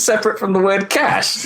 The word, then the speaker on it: cache: Cas cuz then it's separate from the word cash y nothing is called a case f pronunciation you just don't like homophones no I'm